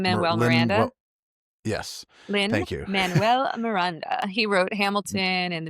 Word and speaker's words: Lin-Manuel Miranda: Is it, I always say her name wrong. Lin-Manuel Lynn, Miranda. well, yes. Thank you. Lin-Manuel Miranda.